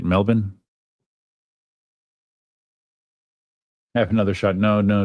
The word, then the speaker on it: Melbourne: It's pronounced Melbourne, right? That's the way that Australians say it. Melbourne.